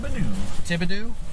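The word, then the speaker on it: Thibodaux: pronounce that town name tim tibbadoo is that how you pronounce that yep okay confirmed but the biggest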